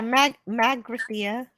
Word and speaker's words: Magrathea: Megarithia? Is that how you say it? Megarithia? Yeah, Magrathea is the place that creates planets.